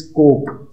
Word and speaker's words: cork: तो जैसे कॉर्क होता है, कॉर्क एक किस्म का दरख्त है, उसका जो कवरिंग शेल है बाहर से, उसको कॉर्क, इट्स कोक, CORK silent, कोक।